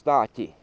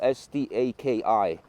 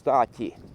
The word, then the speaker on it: Staki: That's how you pronounce Staki, and it's spelled S-T-A-K-I. S-T-A-K. Oh, right there, signs right there. But that spelling is in Latvian here. But we pronounce Staki.